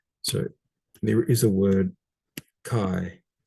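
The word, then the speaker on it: καί: So there is a word chi. So kappa plus alpha iota, where there's a diphthong pronounced I. So chi.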